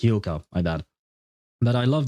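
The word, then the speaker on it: Hyouka: Oh, I loved Hioka. It's supposed to be pronounced Hoka.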